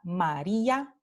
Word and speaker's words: María: Entonces, por ejemplo, la palabra María o el nombre María, vamos a tener la silabificación como ma-ri-a y vamos a ver que I y A están en dos sílabas diferentes.